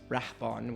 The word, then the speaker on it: Rahban: So nobody was going to spell it. That's. Yeah. And Rahban, of course, is Rahban, which is R-A-H-B-A-N.